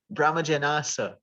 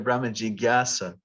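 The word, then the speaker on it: brahma-jijñāsā: band in 1996 and i had a song called brahma janasa because instead of brahmaji gyasa and then so we learn okay this j n a a is like a gya sound but then it kind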